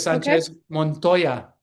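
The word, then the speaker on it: Sánchez Montoya: Sanchez Montoya.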